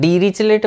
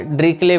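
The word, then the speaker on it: Dirichlet: ड्रिकले बोलते हैं उसको, ठीक है। डीरिचलेट मत बोला करो, अगर आपने बोला होगा पहले तो वो सुधार लो। उसको ड्रिकले फंक्शन बोलते हैं।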